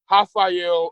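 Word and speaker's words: Raphael: the uh Cody garbrandt hael a sun KO and I'm saying hael but it's spelled with an R that's how Brazilian names are pronounced the r it has an H sound and it was it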